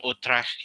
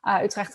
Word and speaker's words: Utrecht: Utrecht is always very interesting to pronounce with the hard g that we have going on.